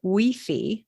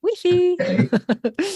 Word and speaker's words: Wi-Fi: will have Wi-Fi and they pronounce it wey which pilgrims just love to say wey so the thing about